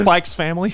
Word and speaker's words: Spy x Family: It's pronounced Spike's Family.